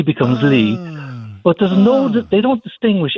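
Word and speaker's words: 이: But I subsequently married a Korean lady whose surname is E, which is pronounced Lee.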